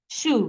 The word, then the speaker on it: shoe: Yes, it has letter S, but it's not pronounced. In that word, the S is merged with the letter H as a digraph to produce the sound sh.